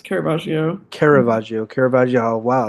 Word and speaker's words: Caravaggio: Like But you're saying that like who Caravaggio, is that how you pronounce his name? yes, Caravaggio.